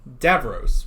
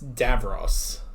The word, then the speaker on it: Davros: It's the same thing with I kept saying Davros. We said that in our Genesis reaction, but it's Davros.